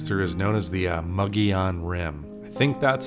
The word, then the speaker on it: Mogollon Rim: So anyway, that whole area in general of that 260 goes through is known as the Mogollon Rim. I think that's how the locals pronounce that.